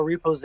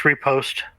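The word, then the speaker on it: riposte: you say that properly I always thought it was like a Repose or something no it's just repost okay yeah I can't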